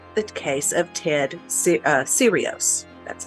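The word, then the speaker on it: Serios: think of is the case of Ted uh sirios that's how you pronounce it now serious started out as an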